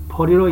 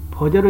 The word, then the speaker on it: 菩提: 먼저 보호제를 보리로 읽는 이유입니다. 보호제를 보제로 읽지 않고 보리로 읽는 이유를 물으면 사람들은 흔히 보호제라는 발음은 여정의 성기와 발음이 비슷하기 때문이라고 합니다. 보호제를 보리로 읽는 것은 지읒을 리을로 읽는 것입니다.